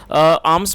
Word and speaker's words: alms: दोस्तों, ALMS इसको आर्म्स पढ़ते हैं क्योंकि इसमें L जो है वो साइलेंट है, इसे आर्म्स पढ़ेंगे, और इसका मतलब होता है भीख।